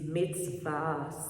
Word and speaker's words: mitzvah: they fall under God's curse, which he already pronounced against them. And the Hebrew word for commandment is mitzvah, spelled M-I-S-V-A, which means commandment, precept, law, or ordinances.